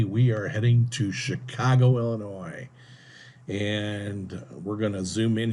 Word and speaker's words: Illinois: peeve here it's pronounced Illinois that S is silent so many people especially in this country get it wrong they say Illinois's it's not Chicago Illinois